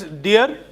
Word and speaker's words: deer: It is not dear. Like you pronounce d e a r. It is deer.